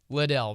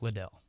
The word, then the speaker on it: Liddell: one of the greatest missionaries ever, or you've got literally runner-up Eric Liddell, bro, or Eric Little, depending on how you pronounce it.